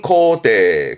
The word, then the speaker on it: 肯定: 발음은 코테, 코테.